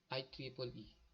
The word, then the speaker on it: IEEE: First is Institute of Electricals and Electronic Engineering or IEEE, pronounced IEEE.